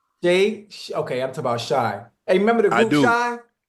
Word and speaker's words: Shai: his name right sh okay I'm talking about Shai hey remember the group Shai If I Ever